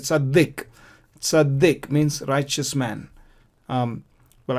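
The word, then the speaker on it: צדיק: Before the Dalet, there is a patach sound, vowel, short vowel sound, and therefore we pronounce it Tzaddik.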